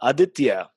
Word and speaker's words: Aditya: that a B so now AJ's name is Aditya am i pronouncing that somewhat okay with my California accent yeah yeah Aditya that's the musician now a meaning of DTS